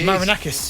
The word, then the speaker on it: Marinakis: I going to say his name uh evangelos marakas I think that's it sound like that marinakis marinakis storm the pitch confronted referee Paul Tini